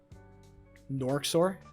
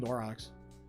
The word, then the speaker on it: Norxor: Norxor? I just call him Norox. I've been mispronouncing his name aggressively.